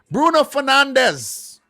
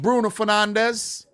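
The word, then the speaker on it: Bruno Fernandes: here bruno for now let me say it in freaking portuguese i was stuck in between the english and portuguese pronunciation bruno fernandez why art dao not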